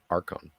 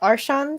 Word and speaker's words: Archons: also um admiralty just for the record it's pronounced Arkham just so you know yes but every time in the chat he would spell it arshons so yeah I pronounced it the way he